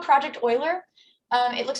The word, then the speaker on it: Euler: one second um so this is called project oiler um it looks like euler it's pronounced euler um i love these these challenges